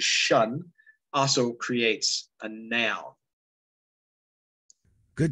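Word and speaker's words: -tion: what have you uh t-i-o-n which is usually pronounced as shun also creates a noun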